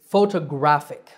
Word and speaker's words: photographic: photographer and similarly photography the last word is photographic so where is the stress the stress is on the third syllable graph photographic one last time photograph